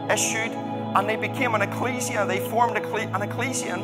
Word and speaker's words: ecclesia: The word that Paul uses here is the word ecclesia. Okay? Ecclesia, strictly speaking, if you want to pronounce it right. But we probably mostly hear it called ecclesia.